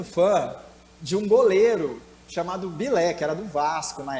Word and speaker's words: Bilé: E ele não conseguia pronunciar, obviamente, essa palavra corretamente, né, desse goleiro. E aí ele falava com a língua meio que enrolada, né? Nisso ele falava Pelé, soltava sem querer esse nome Pelé aí, né?